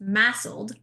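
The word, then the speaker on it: MASLD: they have fatty liver, now actually I need to change the acronym. It's now pronounced massled.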